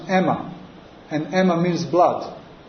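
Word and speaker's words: αἷμα: So my mantra was Aima, and Aima in Greek, in ancient Greek is pronounced Emma, and Emma means blood.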